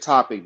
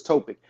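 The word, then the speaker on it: Topić: Nico um yeah I I said topic but it's topic because I had I was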